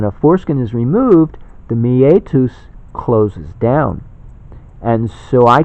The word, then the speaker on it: meatus: So it's kind of meat us. meetups, meetup. Well, this is meet us. Meatus, it's Latin.